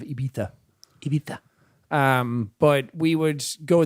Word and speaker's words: Ibiza: That's just the Irish way of saying it, like Ibiza instead of Ibiza.